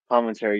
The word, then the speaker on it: Palminteri: Chaz Or pronounced Palminteri. like Palminteri, yeah, because he also did double duties too as De Niro, because he wrote and also acted in this movie.